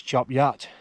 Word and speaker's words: Chop Gate: little village down there that's chop gate it's not job Gators it's chop yacht I saw a big